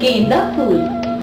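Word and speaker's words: गेंदा फूल: Beta, pronounce it right. It's not Genda Fool. It's Genda Fool.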